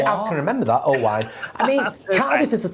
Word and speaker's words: Owain: Can I just Owain. Owain. It's like wine with an O in front of it, darling.